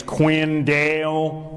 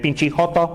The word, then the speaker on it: Quinn Dale: Like my name is Quinn Dale, but she pronounces it pinch.